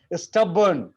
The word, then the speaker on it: stubborn: stubborn, stubborn में भी रॉ का साउंड नहीं है.